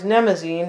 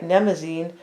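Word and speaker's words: Mnemosyne: Nemazine, although it's a silent M, unless I'm pronouncing it incorrectly, right?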